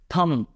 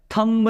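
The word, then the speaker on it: thumb: क्या बोलूंगा बॉम दैट्ची इसको थम थंब नहीं पढ़ा जाता है कुछ लोग पढ़ते हैं लेकिन गाइज अगेन ये प्रोनंसिएशन की मिस्टेक है आपको ध्यान रखना है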